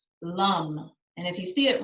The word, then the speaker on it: lam: repeat the chant the um uh the sound lum and if you see it written anywhere it's l-a-m but you pronounce the a as sort of a u